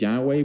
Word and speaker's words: Yahweh: y h w h the actual pronunciation of yhwh was lost thousands of years ago today it is sometimes pronounced as Yahweh but that's just one